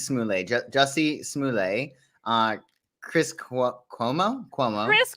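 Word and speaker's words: Jussie Smollett: so many things uh jessie smallay simolette smoolette smoolay are we pronouncing it like target yes it's smooth i believe it's smoothly jessie smuley uh chris cuomo cuomo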